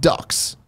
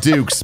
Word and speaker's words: Dux: Fulop and their dog ducks oh no it's pronounced dukes the dog dukes but it's spelled Dux their mission is to